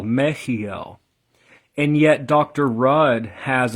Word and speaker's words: Mehiel: so the the eighth letter of the Hebrew alphabet is sometimes shown as a CH which throws a lot of people off um more than it helps probably meel if you're not able to pronounce the sound um then meel is fine but just know that um the shim Angel name of 64 it's not just meel it's meel the Divine attribute is God